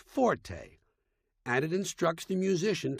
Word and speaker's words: forte: r t used in music not a is pronounced Forte and it instructs the musician to play loud